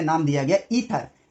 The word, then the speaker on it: Aether: और उस मीडियम को उस जमाने में नाम दिया गया ईथर, AETHER, इसमें ए साइलेंट है, ये नाम दिया गया इसको, और कहा गया कि इसमें आपकी वेव ट्रैवल करती है।